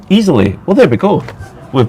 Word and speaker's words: Iseli: in just for info Isel is pronounced easily well there we go